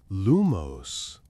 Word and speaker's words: lumos: He emphasized accent on the second syllable and the movement a light upward flick as if you're lifting something weightless. Iris raised her wand concentrated and pronounced lumos.